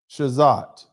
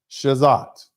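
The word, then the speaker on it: Chazotte: I'm not going to try to pronounce it like I'm French. I'm going to pronounce it like an American. Shazat.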